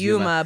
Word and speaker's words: Uma: I know his name is Yuma, but it's spelled UMA.